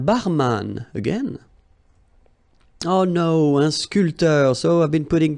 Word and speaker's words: sculpteur: This P here is not pronounced. So, sculpteur, un sculpteur.